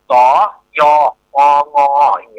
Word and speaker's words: สยอง: มัน เตะ ซำ อ่า ถ้า ใน สยอง ของ ภาษา ไทย เฮา เนี่ย อ่า ส ย อ งี้ เนาะ มัน จะ อ่าน ว่า สยอง นะ แต่ ใน ตัว เมือง เนี่ย มัน เป็น สระ อ่า สระ สะ อะ ยะ สะอะยะ แล้ว ก็ งะ เนี่ย ข้า